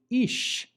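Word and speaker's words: אִישׁ: The word on the right is ish, aleph yud shin, which means man. Since the dot is to the right, we give it an SH sound, and we represent that with an S having a caret on top.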